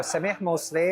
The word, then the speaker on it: Samih Moussly: So, Sami Mosley or Sami Mosley for those of you who don't know how to pronounce my name.